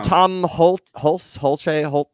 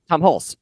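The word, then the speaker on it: Tom Hulce: Even Tom Holt. I always get his name wrong. But Tom Hulse.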